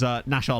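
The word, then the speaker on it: Naxxar: team I'll be doing, won't be spelled like that, is Nashar Lions, or as I've been calling them, NASCAR Lions. So that's most likely going to be our Maltese team with their eerily Swindon-looking badge.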